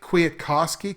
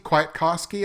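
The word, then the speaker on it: Kwiatkoski: in the linebacker core nick quiakosky quite koski i believe is how you pronounce it he injured his pec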